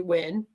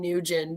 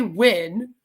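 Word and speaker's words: Nguyen: little tiny bubble yeah it's pronounced win so it's it's Julie win that's how allegedly the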